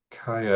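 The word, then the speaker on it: Kia: Kaya, is that how you pronounce that?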